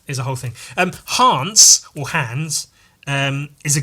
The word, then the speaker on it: Hans: taggers um and in hans's there's a voice saying Hans so that's why I'm pronouncing it Hans as opposed to hands although hands would make